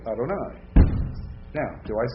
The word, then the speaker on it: Adonai: pronounce it right so when you reading Hebrew and you come to the Divine name you say know you ever say Yahweh around Jewish people you'll offend the living tar out of them especially if you're reading Bible when you say that so you will always practice when you're reading Hebrew and come to that word you will say Adonai now do I say